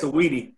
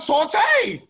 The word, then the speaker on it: Saweetie: heard anybody say it so you can't read it's spelt saute oh it's sweetie s-a-w s-a-w s-a-w-e-e-t-i-n it's spelled so we t